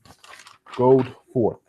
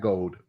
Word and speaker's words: Goforth: Goforth. Darren Goforth, not Gold, Goforth. Like to go forth.